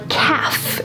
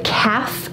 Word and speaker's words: calf: Behind your shin is your calf. Your calf. Now, strangely enough, this is also the word for a baby cow. A baby cow is a calf. Notice the L is silent.